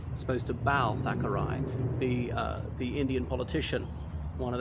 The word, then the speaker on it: Thackeray: So the house of William Makepeace Thackeray. I do believe it is pronounced Thackeray, not Thackeray.